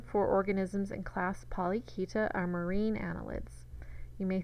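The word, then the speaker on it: Polychaeta: Now, Polyketa is Greek, and the CH makes a K sound, so you pronounce this Polyketa.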